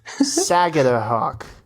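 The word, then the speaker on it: Sagadahoc: Saga hawk.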